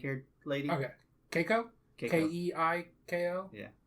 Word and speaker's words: Keiko: lady okay keiko okay k-e-i-k-o yeah keiko keigo that's how i pronounce it okay nice good names